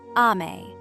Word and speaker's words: amae: Amae. Pronounced ah-mah-eh.